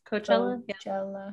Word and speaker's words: Coachella: about coachella is that how you say it coachella yeah so they pushed it back another year